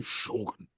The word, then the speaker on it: Shōgun: I have to say Shogun. Yeah. Still good. Yep. You can't say Shogun. Yeah, Yeah. no, It sounds that's weird. Shogun. It's the Shogun. accent on the O.